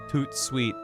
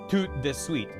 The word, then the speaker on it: tout de suite: It is a homophonic translation of the French Tout de Suite. T-O-U-T-D-E-S-U-I-T-E. And it just means quick. Doing something quick. But I've never seen it spelled like S-W-E-E-T.